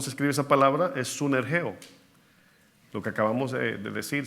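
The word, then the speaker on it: συνεργέω: Esa palabra griega, ¿sabe cómo es o cómo se escribe esa palabra? Es sunergeo, lo que acabamos de decir, sinergia.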